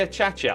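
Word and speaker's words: acacia: You love how I say a cha-cha. I know, right? Like, so many people say it the wrong way. It's infuriating. It's cha-cha, people. Come on. Like, look at how the block is spelt.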